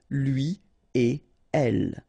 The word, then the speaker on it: lui et elle: So after this conjunction et, like we've got here, you don't make any liaison. So no links after et. Okay? So if you want to read it correctly here, it will go like lui et elle. Alright, so don't think about putting something between the two.